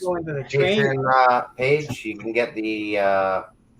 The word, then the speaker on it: Patreon: Is it Patreon? Patreon, yes.